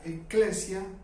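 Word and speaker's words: ἐκκλησία: Les he comentado que la palabra llamar se pronuncia kaleo en griego, y la palabra iglesia se pronuncia eclesia, de iglesia, que viene de kaleo.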